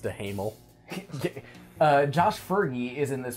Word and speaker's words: Duhamel: There's a moment where the government, Josh Duhamel of Las Vegas from TNT, Pronounced DeHamel.